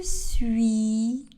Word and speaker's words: suis: Je suis à la plage. Le S à la fin du verbe suis n'est pas prononcé.